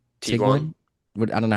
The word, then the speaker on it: Tiguan: It's like the newest Volkswagen Tiguan? Tiguan. I don't know how to pronounce it, but Yeah, it's really Tiguan.